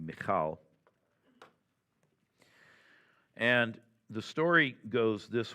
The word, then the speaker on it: Michal: Most Americans say Michael, but proper Hebrew would be Michal.